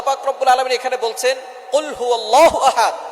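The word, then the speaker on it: قُلْ هُوَ اللَّهُ أَحَدٌ: রাব্বুল আলামীন এখানে বলছেন কুলহু আল্লাহু আহাদ এখানে কফ দিয়ে পড়ছেন কিন্তু অনেকেই ভুল করে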